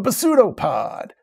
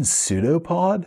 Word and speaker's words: pseudopod: Club you just a what a besutopod do you mean pseudopod yeah they've called them